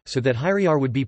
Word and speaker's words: hyrjar: Primary stress in Old Norse falls on the word stem, so that hyriar would be pronounced slash hyr.jar.